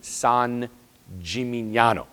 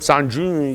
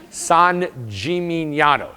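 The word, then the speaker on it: San Gimignano: of you have been to the cathedral in San jimano now let's all say that together s Jim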